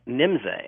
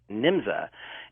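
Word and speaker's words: Nymza: And there was an organization in Germany called NIMZA, N-Y-M-Z-A, and some spellings have it N-J-M-Z-A, but it was still pronounced NIMZA.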